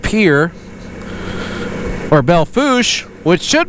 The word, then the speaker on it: Pierre: I mean, we have places like Pierre, which should be pronounced Pierre, but it's called Pierre.